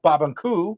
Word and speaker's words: Barbancourt: Yes, pronounced Babankou.